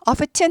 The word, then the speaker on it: often: 종종이란 뜻인데 t가 묵음이죠. often 하죠. 그 often 해요.